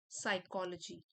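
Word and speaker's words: psychology: history and modern साइकोलॉजी P silent है यहां पर मॉडर्न साइकोलॉजी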